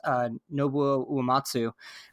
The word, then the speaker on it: Nobuo Uematsu: Fantasy series, and I don't know how to pronounce this, and I'm sorry, but I've always said it is Nobuo Uematsu.